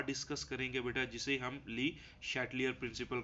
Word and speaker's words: Le Chatelier: discuss करते हैं देखो प्रोनाउंस करना बेटा हर बंदे का अपना होता है वो कुछ इसको चैटलियर भी पढ़ते हैं शट लियर भी पढ़ते हैं तो ज्यादातर प्रोनाउंस इसको बेटा शटलर के लिहाज से किया जाता है अच्छा ली शटलर